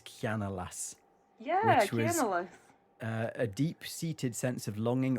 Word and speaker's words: Cianalas: a post about, and I'm not going to pronounce this correctly, it looks like it's Cianalas. Yeah, which was Cianalas.